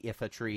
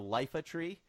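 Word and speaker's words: Iifa Tree: it was more I didn't realize that the if a tree in Final Fantasy 9 is pronounced if and not live up capital not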